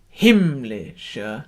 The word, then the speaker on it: himmlische: And if you sing it himmlische, it would be like singing heavenly, which sounds a bit sort of strange. It sounds like you're saying Lee, the name Lee. So himmlische dein Heiligtum.